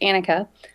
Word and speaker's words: Anneke: on the show and it's anakah uh I know it's a little tough to tell by the way my name is spelled um I I'd have